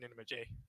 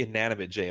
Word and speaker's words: Inanimate J: inate Jay how you doing inate J it's actually inanimate J lamp no it's okay